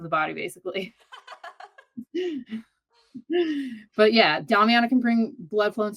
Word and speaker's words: Damiana: I heard that correct me how to pronounce this, Damiana or whatever is a Damiana. natural aphrodisiac. Yes, Damiana. Yeah, it's Damiana.